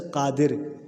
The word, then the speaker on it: قادر: تو اس کو دونوں کا جو ہے ایک ہی تلفظ ہے، قادر اور نادر. دال پہ دونوں پہ جو ہے نا زیر لگا کے پڑھیں گے.